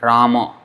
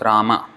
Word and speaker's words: Rama: So it becomes Arjun, and this is the reason why sometimes they pronounce as Ramo. But Prabhupada wanted us to pronounce Rama.